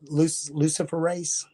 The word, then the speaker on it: luciferase: and they called it luciferase. But if you look at how it's spelled Lucifer race. Luciferase.